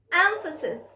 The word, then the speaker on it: emphasis: syllables three syllables right now recognize the stress emphasis emphasis yes the stress is on the first syllable emphasis so repeat after